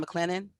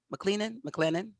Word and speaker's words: McClellan: There are about, yeah, right there, about 326 areas of known and suspected contamination at, how do you pronounce that again? McLennan? McClellan.